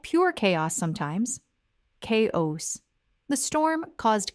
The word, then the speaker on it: chaos: Now, many learners, especially those whose first language uses a hard CH sound, will pronounce this as chaos or kos or even shaos. But the correct English pronunciation is chaos. Chaos. The CH at the beginning of chaos makes a K sound, not a CH sound, not a SH sound.